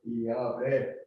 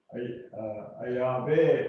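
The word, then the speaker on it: ayaabe: You know they say Iabe. They didn't say it right. So we said to the Ayabe is the male of the species.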